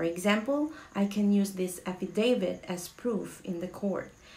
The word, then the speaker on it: affidavit: It's affidavit. Affidavit. Affidavit. Okay? Hindi siya affidavit. Alright? Kagaya sa naririnig ko sa iba, marami akong naririnig na affidavit daw.